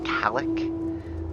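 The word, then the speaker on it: Cailleach: The first one, I believe, is pronounced Kalik, and Kalik is a goddess associated with winter.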